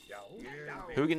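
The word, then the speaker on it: Huginn: Hugin and Minin. That's how you pronounce their names.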